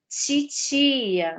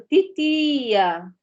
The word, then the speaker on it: titia: No Rio de Janeiro, por exemplo, a palavra titia, né? Ela é pronunciada dessa forma que eu pronunciei, titia, né? Titia, com esse chiado. Em outras localidades, tem outro tipo de pronúncia. Por exemplo, titia, né? Com a língua mais no dente, titia.